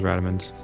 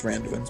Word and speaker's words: Randuin's: I'm working my way towards Radovan's. It's Randuin's, by the way. Randuin's. I say it wrong all the time.